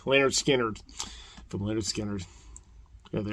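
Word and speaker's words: Lynyrd Skynyrd: members are alive anymore but it's of course pronounced lard skinnard from lard skinners yeah they are they looking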